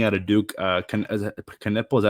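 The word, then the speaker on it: Knueppel: Uh, can Kniple, is that how you pronounce his last name? Yeah, Kanipple.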